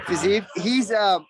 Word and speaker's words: Fiziev: Rafael Fiziev? How do you say his name? Yeah, Fiziev.